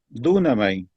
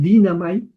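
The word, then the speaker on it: δύναμαι: Dunamay. En pronunciación moderna dirían dinamay, pero dunamay es yo soy capaz de yo puedo.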